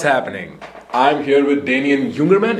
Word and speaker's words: Jungermann: I'm here with Damien Jungermann. Is that how you pronounce it? Close. Jungermann.